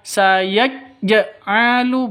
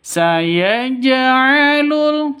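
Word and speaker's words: سَيَجْعَلُ: begitu ya cara membacanya Bukan dibaca sayajjaalu bukan seperti itu tapi sayaj'alul seperti itu seperti ee ada harakatnya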